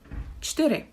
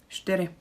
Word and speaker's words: čtyři: If you really struggle with the word čtyři, it's quite tricky to pronounce it, or it's not as easy to pronounce it even for native speakers. So again, we are lazy. It's not the official way, but we can say something like čtyři, or even čtyři.